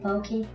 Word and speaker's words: poke: No, that's how you say it, pokey.